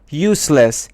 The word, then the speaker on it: useless: Useless is an adjective and the stress is on you, means unable to do anything properly.